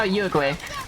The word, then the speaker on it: Yuegui: Uruguay, you're up. Oh, Yuegui. Okay, so I still pronounced it wrong.